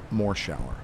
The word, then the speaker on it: Morshower: people read the credits and they then said more shower and that's all i wanted was for them